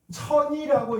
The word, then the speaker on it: 천이: 전이라는 한자는 천이라고 읽어도 돼요. 그래서 화학에서는 주로 전이라고 읽고요. 생물에서는 천이라고 읽습니다.